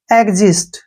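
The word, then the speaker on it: exist: एक्स आई एस टी इसको हम पढ़ते हैं एजिस्ट ठीक है ना एजिस्ट ऐसे लिखेंगे इसको एजिस्ट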